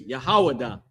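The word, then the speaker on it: יהודה: That how you pronounce that in Hebrew is Yahawadah.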